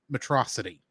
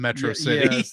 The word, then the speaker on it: Metro City: there's 20 mispronunciations and half of them are matrosity instead of Metro City like all the time